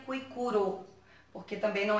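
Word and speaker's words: Kuikuro: Na verdade, escreve Cuicugo, mas hoje, né, aqui no Brasil, a gente pronuncia Cuicuro, porque também não é de origem portuguesa, então a pronúncia é diferente. Está escrito Cuicugo, mas a gente pronuncia Cuicuro.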